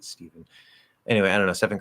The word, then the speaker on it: Stephen: I always want to say Stefan. Pretty sure he pronounces it Stephen.